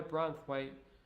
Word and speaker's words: Branthwaite: That boy Branthwaite makes England look rhymes with kite.